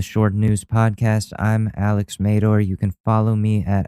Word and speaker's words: Madore: I'm Alex Mador. You can follow me at Alex_Madore on Twitter. It's pronounced Mador. I know a lot of people don't get that right, but it's Mador.